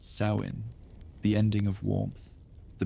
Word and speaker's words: Samhain: Samoin pronounced sain, the ending of warmth, the beginning of descent.